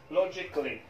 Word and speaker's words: logically: لو لاحظتم أن حرف الآي هنا يكاد لا ينطق أو يختزل إلى الشوا ساوند. logically أي بطريقة منطقية.